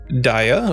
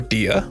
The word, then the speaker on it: Dia: that's medica 2 glare holy daya or dia depending on how you want to pronounce it i said a size